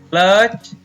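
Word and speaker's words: clutch: इसी प्रकार कुछ शब्दों में टी के तुरंत बाद सी एच हो तो टी का उच्चारण नहीं किया जाता।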